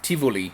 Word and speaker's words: Tivoli: And we went to a Danish amusement park called Tivoli, which is, Tivoli, I guess, if you're pronouncing it in an English way, which is one of